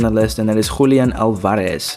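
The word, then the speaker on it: Julián Álvarez: Moving on to the next striker we have on the list, and that is Julian Alvarez. Now, we have to pronounce it like that because he is from Argentina.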